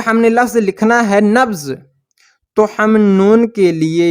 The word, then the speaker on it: نبض: کر دیا، نبض، یعنی ہم نے اس بے کو آدھا پڑھا، اور اس کے لیے